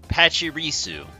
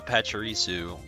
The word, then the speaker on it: Pachirisu: today we're looking at pachirisu i believe that's how they pronounce it the anime and apparently